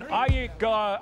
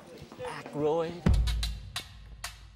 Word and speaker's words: Aykroyd: Chevy Chase, Gilda Radner, Dan Ayika. How the fuck do you pronounce this? Aykroyd.